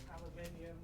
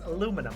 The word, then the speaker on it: aluminium: I pause on the second I. Yeah. In the American spelling doesn't have the second I. So it's pronounced as aluminum over there. And that's how I'm stuck saying it.